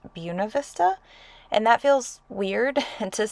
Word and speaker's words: Buena Vista: Buena Vista which I recently learned is actually pronounced Buena Vista and that feels weird to say but then